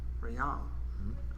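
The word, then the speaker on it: Ryam: And how do you pronounce it? Rion. Riyam? Riyam.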